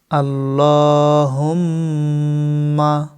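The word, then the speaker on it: اللهم: অনেকে ভুল করে বলেন আল্লাহুম্মা, এটা ভুল। সঠিক উচ্চারণ আল্লাহুম্মা। আল্লাহ শব্দের ডাইনে জবর থাকার কারণে লাম জবর ল মোটা করে এবং লামের উপর খাড়া জবর একালিফ পরিমাণ টানতে হবে।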